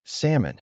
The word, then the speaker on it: salmon: But people were already used to saying salmon, so the pronunciation never changed. This is a pattern. When you have an L followed by M, the L is usually silent.